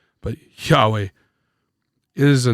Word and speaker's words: Yahweh: when you pronounce it Yahweh it's supposed to sound like a breath which comes down to